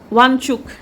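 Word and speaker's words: Wangchuk: কিছু ভালো আছে, কিন্তু এই সোনম ওয়াংচুর জন্য ওয়াংচুক সরি, আরে হল নয় ক নয় উচ্চারণ করলামই না, এখন মানে ফ্লোটা না এগেনস্টে যাচ্ছে, এইটাই হচ্ছে কথা।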